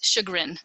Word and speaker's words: chagrin: So it's called, I always pronounce it wrong. Is it chagrin or chagrin? It's chagrin.